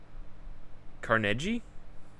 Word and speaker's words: Carnegie: Carnegie is actually pronounced with a hard G. Carnage.